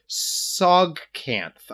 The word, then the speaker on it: Tsojcanth: The caverns of Sogcanth. I'm gonna say Sogcanth. It's literally TSOJCANTH.